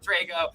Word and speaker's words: Drago: Drago, Drago, and I would have said Drago even though I pronounced it Drago.